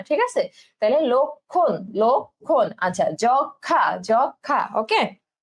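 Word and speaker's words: লক্ষ্মণ: যক্ষা, একইভাবে কিন্তু এই ম ফলা উচ্চারণ হবে না, ঠিক আছে? তাহলে লক্ষণ, লক্ষণ।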